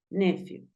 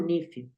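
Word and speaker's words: nephew: nuestro sobr y sobrina sobrino se dice nefiu A veces lo he escuchaba como nifu se puede nefiu o se puede nifu nifu corresponde a sobrino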